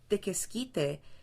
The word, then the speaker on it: tequesquite: Tequesquite is actually comes from the Nahual, which is another name for the Aztecs or the Mexicas or the indigenous people of Mexico, of that area, and it's pronounced tequesquite.